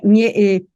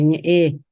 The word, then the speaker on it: ñe'ẽ: a palavra, que é nhe, não se pronuncia assim, é mais anasalada, que eu não sei como repetir, nhe, né?